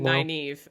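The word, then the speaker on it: Nynaeve: also may not have actually liked uh the nave nave neva naive is how you my knees technically supposed to pronounce it all right um she also might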